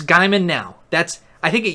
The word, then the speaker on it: Gaiman: at work Neil Gaiman Gaiman know Neil Gaiman Guymon its Guymon now that's I think it used to be